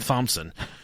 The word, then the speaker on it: Thompson: head yeah Robert Thompson or in they pronounce it in England Thomason Robert was robear Thompson